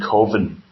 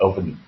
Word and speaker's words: coven: Whereas the other 3, I think they've set up their own coven. Coven, I think it's pronounced, isn't it? Like oven.